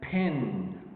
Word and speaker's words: pin: And then pin. See, pin. There's a kind of aspiration related to the letter or the pronunciation, to the sound, the plosive sound, pin.